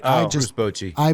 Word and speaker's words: Bochy: Oh, Bruce Bochy. I butchered it and couldn't.